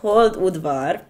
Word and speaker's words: Hold-Udvar: also sometimes occasionally and enjoy Europe okay it's pronounced hold wood bar okay it was when was that I think